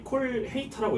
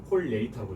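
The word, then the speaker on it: colheita: 이 콜헤이타라고 읽지 않고 이게 많이 콜헤이타라고 검색이 되는 걸 볼 수가 있는데 이 포르투갈어는 자음 뒤에 h가 붙으면 이게 y랑 똑같습니다. 그래서 콜레이타라고 읽어야 돼요.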